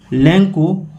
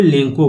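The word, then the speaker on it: Lencho: देखिए यहां इसको कोई लचो भी बोलता है। कोई लैंको बोलता है। लेकिन इसका सही उच्चारण लेंको होगा। क्योंकि सी एच के बाद अगर ओ होता है तो उसका उच्चारण को हो जाता है।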